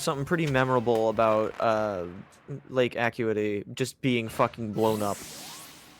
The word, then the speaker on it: Acuity: I know it's technically pronounced Acuity, but like as a lake name, it makes more sense that it would be. I don't know. It just flows better when you say it wrong.